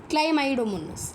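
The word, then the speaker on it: Chlamydomonas: सबसे पहले ये पढ़ो आप, क्या है, क्लै, इसकी प्रोनाउंसिएशन ऐसी होगी हमारे पास, रुको मैंने लिख रखी है, क्लाई माई डो मोनस, क्लाइमाइडोमोनस, ठीक है।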